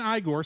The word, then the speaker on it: Igor: pronounces his name Frankenstein Igor insists that his name is pronounced igore rather than the traditional Igor arriving at the estate